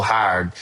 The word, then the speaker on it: Howard: Is there any element of Will Howard in this development? Uh, possibly. Well, first of all, let me correct your pronunciation. In Pittsburgh, they say Will Hard. It's just one syllable.